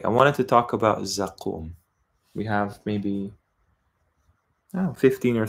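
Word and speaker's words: Zaqqum: to do with Hellfire rhymes with samum and what's interesting is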